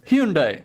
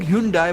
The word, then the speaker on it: Hyundai: बहुत से लोग Hyundai बोलते हैं। पर कोरिया में उसे Hyundai बोला जाता है।